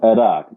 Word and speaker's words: Iraq: you you you said Iraq I was saying Iraq that is the Aran uh pronunciation and because Arabic is my first language I'm so used to saying things the Arabic way and there are times